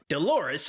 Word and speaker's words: Dolores: Dolores also rhymes with clitoris.